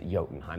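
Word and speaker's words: Jotunheim: movie we also see jotenheim or jotenheim is yotenham that's how you're supposed to pronounce it home of the frost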